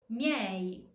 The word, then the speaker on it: miei: The E turns into a Y sound, the U turns into a W sound. Let's see some examples. Odiai, odiai. Miei, miei.